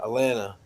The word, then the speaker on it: Atlanta: i might be i'm my second tea silent uh atlanta atlanta so yeah you don't